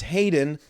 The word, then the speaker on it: Hayyddeenn: It is HAYYDDEENN. And no, I don't have a stutter just then. It's Hayden, but all of the letters past, starting with the Y, they doubled up on.